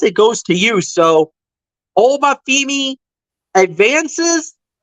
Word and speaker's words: Oba Femi: He went up against Obi Fima. If I pronounce that correctly, it's Oba Femi.